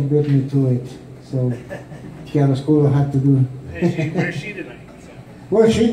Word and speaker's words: chiaroscuro: Anyway, it's pronounced chiaroscuro, which means in Spanish, claro oscuro.